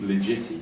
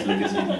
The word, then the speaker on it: Ligeti: loads of ligeti, and I'm always worried I'm pronouncing that wrong. For years I called it legiti, but it is ligeti anyway, don't know, correct me if I'm wrong.